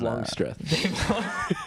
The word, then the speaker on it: Longstreth: syllable there. What's that man's name? Dirty Projectors? Longstreth. Dave Longstreth.